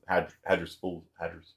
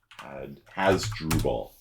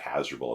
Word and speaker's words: Hasdrubal: His crossing was Hadrispal. Do you pronounce that? Hadrispal. Hasdrubal. Hasdrubal. That's it. We need to bring back Hasdrubal as a name.